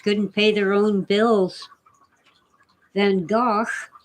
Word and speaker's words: Van Gogh: pay their own bills than gosh or as most americans say van gogh it's fandom van gogh